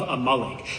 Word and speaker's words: Amalek: It's not Amalik. It's a malik.